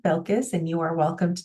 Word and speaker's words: Belkis: Everyone calls me by my first name, Belkis, and you are welcome to do the same. Some students also call me Dr. Belkis, and that works too.